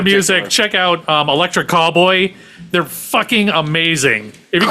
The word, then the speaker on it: Callboy: check out Electric Callboy. They're fucking amazing. If you get the chance. Callboy, not cowboy.